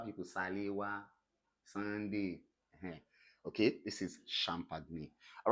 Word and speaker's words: champagne: we call what shh for instance you have the word champagne someone wants to pronounced this as champagne I died for two seconds and resurrected again please it's not champagne it is what champagne then this is what